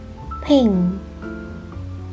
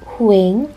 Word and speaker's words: 횡: We don't pronounce the circle part. One. 횡, 횡. Not huing, it's 횡, 횡.